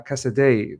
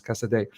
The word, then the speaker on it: Caicedo: much as I love uh Cassidy that's how people told me to pronounce Cassadee let me know if I'm still getting it wrong man honestly at this